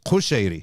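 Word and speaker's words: Kushari: that's what it says with a cuff not a kef it has a kef it's spelled with a K El cuchery so I'm like but no it's kusheri should be with a Q technically uh of course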